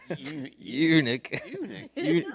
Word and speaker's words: eunuch: Eunuch.